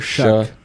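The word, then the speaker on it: Shough: How do you say it? Shu show. Tyler Shuck. Shuck. Shuck. Where's the Where's the C?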